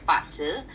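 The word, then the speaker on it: bazi: adalah pakce ya Jadi ini tulisannya b a z i ini bacanya pce Eh ini dasarnya eh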